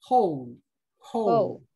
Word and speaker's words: whole: Entonces, quedamos que la W es muda y la E también es muda.